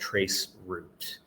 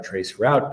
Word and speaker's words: traceroute: about is this tool called traceroute or traceroute, depending on your pronunciation.